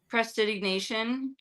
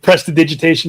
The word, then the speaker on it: prestidigitation: out of the area, so Can I cast Prestidignation and have like a really fun, light piece of music play, just to try to? if you can pronounce it properly. Oh gosh. Prestidigitation, yes.